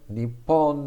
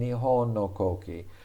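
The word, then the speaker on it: 日本: put nishoki uh and they put nippon no koki and nihon they wanted to show that this japanese flag has two names depending on how you pronounced this was a article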